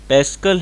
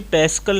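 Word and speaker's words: Pascal: Kelvin है, Newton है, पैस्कल है या वोल्ट है? दरअसल ये पैस्कल नहीं बल्कि पास्कल है। ठीक है, संभवतः प्रोनाउंसिएशन पैस्कल भी हो सकता है, लेकिन हम पास्कल उसे पढ़ते हैं।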